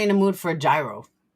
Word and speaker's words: gyro: Now you guys got me in the mood for a gyro. Nope, it's not euros. It's gyros. Gyro. G Y R O.